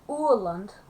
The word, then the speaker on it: Åland: I mean, yeah, okay, so Åland, because the A with the O on the top is actually pronounced as U.